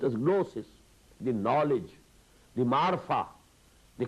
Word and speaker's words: gnosis: You spell it with G, gnosis, but it is pronounced as gnosis.